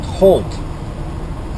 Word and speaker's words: Holt: Lancing in a small town called Halt and not h a l t oh you would that would be logical right but this this is a small town and it's spelled h o LT Henry Opera Larry Thomas Holt Michigan basically a suburb